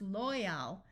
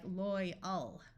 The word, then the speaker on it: loyal: sound of Al but often when a l is at the end of an English word it becomes a muffled schah sound more like uh so this could be pronounced loyal but in reality it sounds more like loyal loyal the same applies